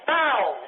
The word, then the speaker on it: boughs: bis right in there that's bows b o u g h is B right